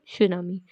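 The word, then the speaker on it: tsunami: ये नाउन, इसका मतलब होता है सुनामी। इसमें टी जो है वो साइलेंट होता है।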